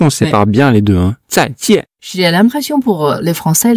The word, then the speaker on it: 再见: Alors, pour moi, je rajoute un D devant. C'est-à-dire? C'est-à-dire que le Z, je le prononce comme un D avec un Z. Donc, Z. Fais-le. Donc, zai. C'est très bien. Voilà. Fais. Alors que le J, dans le pinyin, je le prononce comme un D avec un J.